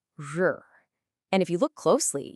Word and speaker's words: 日: This character is pronounced R.